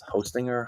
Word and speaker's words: Hostinger: company called I don't even know how to pronounce it. It's Hostinger.